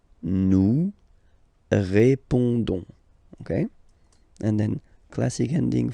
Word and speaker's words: répondons: Don't pronounce the final S. You only pronounce this on sound. So you get répondons. Nous répondons. Nous répondons.